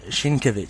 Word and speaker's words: Sienkiewicz: that was wrong again I think the Polish Way is a Sienkiewicz so it's a lot more just straightforward there's no emphasis yes yes Jim Fitch